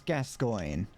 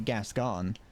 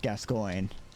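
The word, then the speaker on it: Gascoigne: think it was very good that's how you pronounce gascoin well I think I've never I I would always have just pronounced it gas gone I would I would have pronounced it gas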